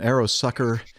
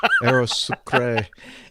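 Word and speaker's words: Aerosucre: don't think so anyway an aeros an arrow sucker boeing 737. oh i'm sorry i mispronounced it aerosocrae boeing 737 200 registration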